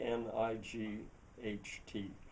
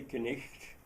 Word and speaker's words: knight: But he said, "Well, take the word knight, k n i g h t. Do you say knisht because it's spelled k n i g h t?